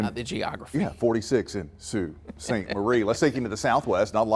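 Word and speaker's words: Sault: northern part of Michigan you have s a l t but pronounced the same Sue Falls Sue St Marine oh I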